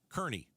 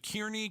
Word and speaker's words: Kearney: Kearney. Nailed it. Yes, Arizona. Curtis Stacy. I've been calling it Kierney, Carney, Kearney. You You had a variety of of things, all of them wrong. It rhymes with Ernie.